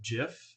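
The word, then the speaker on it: GIF: you to put a jiff in a tweet I think Barack Obama has confirmed that Jeff is actually the correct pronunciation so I'm going to go with that but so i just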